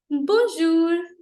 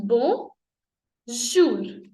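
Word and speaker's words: bonjour: लोग यूज करते हैं right so this is buzzer बो जूर ब जूर so this is now let's take this again बो जूर कोई और पहन लेते हैं ये कूल है दिस इज बो जूर ब जूर ब जूर ओके सो इन फ्रेंच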